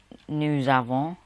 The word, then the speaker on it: nous avons: So we have is nous avons, because it's an A, you bring the S into pronunciations.